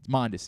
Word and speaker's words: Mondesi: a time raul monday monday is how you say that one i don't know all